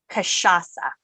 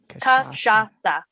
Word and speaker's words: Cachaça: It's Cachaça. I think I said it the same way that you corrected, but how do you say it again? It's Cachaça. Cachaça. Okay. And I even tried to phonetically do it, but you know what?